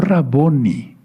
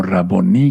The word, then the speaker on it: Raboni: No Raboni, sino Raboni con acento en la i, porque todo lo que termina así en hebreo se se se acentúa al final, como palabra aguda.